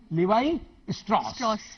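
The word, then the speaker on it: Levi Strauss: कोई लिवाई है, उसको कोई लेविस भी बोलते हैं, लेवी भी बोलते हैं, कई तरह तरह के। लिवाई स्ट्रॉस, ठीक है।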